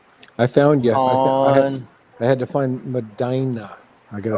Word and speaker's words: Medina: I had to find Medina.